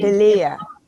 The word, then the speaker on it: Illia: Oh, it has everything from on down, but people call me Illia, who know me. Illia, okay. Yeah. Accent on the second syllable, got it.